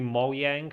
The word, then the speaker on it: Mojang: But I also read that in Swedish it's pronounced Mojang, because in Swedish the J is a Y kind of thing.